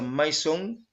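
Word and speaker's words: μείζων: Si vamos a la concordancia de idiomas griegos al español de Strong, esa palabra mayor que aparece ahí es la G3187, se pronuncia maison y literalmente significa más grande, específicamente en edad.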